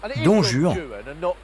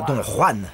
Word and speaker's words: Don Juan: À prononcer Don Juan, et surtout pas Don Juan, sinon il y a plein de rimes qui ne fonctionnent pas.